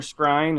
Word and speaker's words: Skrein: Yeah, so Ed Skrein or Skrine, is that what it is? Skrine was how you say it.